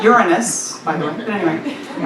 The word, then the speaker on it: Uranus: It's pronounced Uranus, by the way, but anyway.